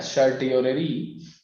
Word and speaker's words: certiorari: ठीक है, आगे की तरफ बढ़ेंगे और जो नेक्स्ट है बेटा उसे कहते हैं हम लोग, इसका थोड़ा सा प्रोनाउंसिएशन टफ है, सर्टियोररी या उत्प्रेषण इसे कहते हैं।